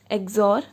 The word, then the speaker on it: XOR: तो मतलब इसको हम प्रोनाउंस कैसे करेंगे, ए एक्सॉर बी।